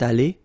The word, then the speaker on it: allée: Phonetically, it doesn't exist. You don't pronounce it, so you get elle est allée, and then for the masculine form, il est allé. So aller is pronounced the same way, but still you have to write it.